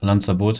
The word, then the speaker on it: Lanzaboote: uh this is called Lans I guess he want it to be pron the GU project owner wants it to be pronounced like the island near Spain called lot and therefore I just